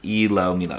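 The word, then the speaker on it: ilomilo: replied to Fan okay the tracks title is pronounced ELO Milo yeah let's see Billy confirmed a fan on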